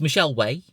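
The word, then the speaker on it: Michelle Wai: Michelle Y? I really do not know how to pronounce that name. So it's Michelle Way.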